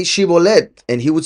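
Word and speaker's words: Shibboleth: So they couldn't say shibolet, they could only say sibolet.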